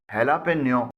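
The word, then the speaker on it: jalapeño: کی اسپیلنگ ہے JALAPENO، جسے ہیلاپینیو بولا جاتا ہے۔ جے سے جا کے بجائے ہا کی ساؤنڈ نکلتی ہے۔ اب دیکھتے ہیں کہ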